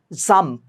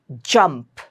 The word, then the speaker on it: jump: J not zump. Lot of people make it as they pronounce it in a very funny manner. It's not zah. It's j jump.